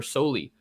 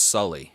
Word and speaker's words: Soley: Arizona State linebacker Connor Soley, who is definitely a little bit on the smaller side, right? I think it's pronounced Sully, is what I've come to understand. Okay, Sully, yeah, Sully Sullenberger, which is fantastic in my view.